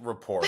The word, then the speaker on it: rapport: because it's got a T on there, and you're not supposed to pronounce it.